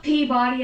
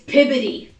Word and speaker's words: Peabody: It's not Peabody, it's Piby.